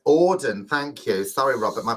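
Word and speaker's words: Auden: thank you for that robert says i have to pronounce that as odin thank you sorry robert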